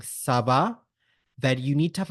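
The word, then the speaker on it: ça va: we can say this by K SAA and Sava so K means Howa means How does it go how is it going you can also say Sava when asking a question so it could be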